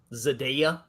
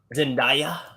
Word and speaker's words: Zendaya: easy to look at zadayya yeah let me go that's uh that's the current mary jane sadaya spiderman i know yeah huh zendaya zendaya that's how you say it yeah she's uh she's